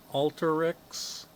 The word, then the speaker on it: Alteryx: a Y X and I think that's pronounced alter Alteryx I hope I'm pronouncing this right anyway the it's a